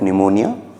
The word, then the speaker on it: pneumonia: I want you to learn the spelling of pneumonia, and the P, the letter P is silent.